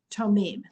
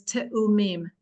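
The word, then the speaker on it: תאומים: First of all, the word is not tomim. The word is te'umim for the plural.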